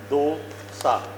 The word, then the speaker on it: dosa: DOSA is pronounced as dosa. Dosa. एक, दो, दो सा. दो सा. इससे याद रखना. एक, दो, दो सा. ठीक है? डोसा नहीं बोलना, क्योंकि सारे पंजाबी होते,